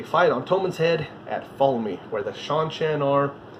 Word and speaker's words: Falme: Every time I read it, I saw it as flame. And as soon as I heard it from somebody else, I realized it's not spelled flame. It's spelled Falme.